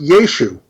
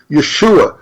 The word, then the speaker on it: Yeshu: see in the Hebrew, was used in a spelling, but it was not pronounced. So you would see it there, but it wouldn't be pronounced there. It would have been pronounced Yeshu.